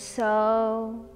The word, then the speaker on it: So: practice meditation so when we do inhale we pronounce soul when we exhale we let it out with harm so i'll demonstrate the